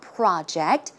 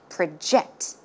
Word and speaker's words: project: okay in this case the stress goes in the second syllable as you can see it's not project when it's a verb it should be project project one more time